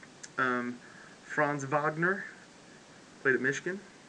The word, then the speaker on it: Franz Wagner: Wagner play the Michigan or if you want to pronounce it in English Franz Wagner that's why we'd say it in Kentucky yes Franz Wagner and I'm sure he's German and he's probably Franz Wagner so yeah uh he